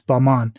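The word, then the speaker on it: Balmain: wrong it was a French designer but it's Balman Not Gon there you go I'm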